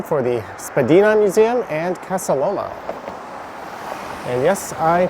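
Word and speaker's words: Casa Loma: There you can see the sign for the Spadina Museum and Casaloma. And yes, I pronounced that correctly.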